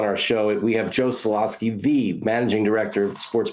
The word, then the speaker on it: Solosky: So it's Soloski. Is that how do you pronounce it? That's it.